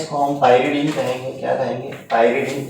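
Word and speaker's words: pyridine: ये है, इसको हम पायरिडीन कहेंगे। क्या कहेंगे? पायरिडीन।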